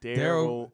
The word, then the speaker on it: Darrell: Darryl. Daryl. Okay. Like Lil Daryl.